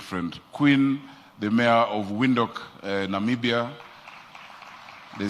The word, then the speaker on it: Windhoek: Oh, of course, my very good friend, Queen, the mayor of Windhoek, Namibia. They say Windhoek. We need to learn how to pronounce it.